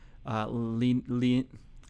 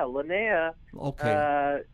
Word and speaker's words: Linnea: Of course, you had I'm not even sure if I can pronounce this woman's first name. Linnea. Linnea Quigley? Yeah. Yeah, Linnea is a Scream Queen legend.